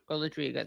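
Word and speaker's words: Golodryga: And it's Biana Golodriga. Sorry, Golodriga is how you say your last name.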